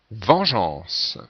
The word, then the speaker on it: vengeance: de vide 17e mot vengeance alors voici la réponse N G E A n C donc on est obligé de mettre le E après le G pour conserver la prononciation je et non pas 18e mot girophare voici